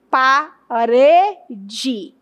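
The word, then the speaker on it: parede: Quando eu falo, por exemplo, paredi, quem é a mais forte? Com certeza você vai dizer que é urê. Então eu classifico o rê como sílaba tônica porque tem alta intensidade e o pa e o d tem menos intensidade, baixa intensidade.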